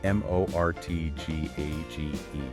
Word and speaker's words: mortgage: Which is They point out that there's a silent T in mortgage. Silent T. It's spelled M O R T G A G E.